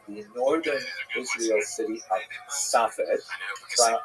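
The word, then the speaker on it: צפת: And that is the incredible explosion of spiritual, literary, religious activity that occurred in the northern Israel city of Safed, pronounced in Hebrew Tzfat or Tzfas.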